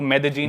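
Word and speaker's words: Medellín: Spelling में उसमें double L आता है, मेदेलीन होता है, लेकिन कोलंबियन स्पेनिश में ल को ज बोलते हैं, तो मेदेजीन।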